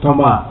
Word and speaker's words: Thomas: working at the classical music station I must pronounce his name charl Lou Ambrose Tom in fact he was director of the acclaimed